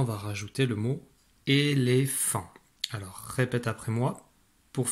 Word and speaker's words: éléphant: Voilà, nous voici face à un éléphant. Dans éléphant, j'entends le feu dans la troisième syllabe.